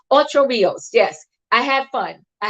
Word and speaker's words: Ocho Rios: That's Ocho Ricos. Yes, yes, yes. Am I saying that right? Ocho Rios.